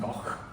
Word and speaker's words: Gogh: In his home country, some people say like Gogh, it's pronounced Gogh. But in America, we say Gogh, Van Gogh.